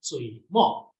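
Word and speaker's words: 水墨: Okay, in Chinese pronounced sui, mo. Okay, in Japanese su mi.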